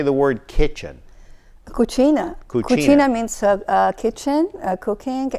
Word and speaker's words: cucina: now how do you say the word kitchen Cucina Katrina means sub kitchen cooking and cuisine okay